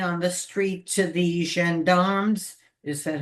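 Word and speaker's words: gendarmes: So that when I saw the wallet on the idea on the street to the Xandarmms, is that how you pronounce it?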